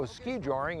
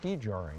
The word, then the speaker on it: skijoring: Tim they call this skijoring I understand right yeah it's a Scandinavian term skijoring or sometimes you hear